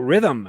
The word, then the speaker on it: Rithmm: And while we're talking about NBA playoffs, we should tell you about Rhythm, another one of our sponsors. It's spelled RITHMM.